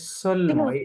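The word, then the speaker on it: seulement: ই এন টি হ্যা এটা যে সলম এই ওটা সাইলেন্টের মত আছে হ্যা সলম বলবেন সলম অনলি উইকেন্ড ওকে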